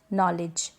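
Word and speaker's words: knowledge: जाने एग्जांपल जान ले जैसे कि नौ तक नॉलेज फिट कर देती हूं नो नॉलेज यहां पर के और में साथ ही में है तो वहां पर हम के को साइलेंट रखते हैं या आप ध्यान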